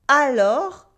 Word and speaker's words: alors: Alors, alors, with the silent S at the end, repeat after me, alors, alors, means then, therefore, or while.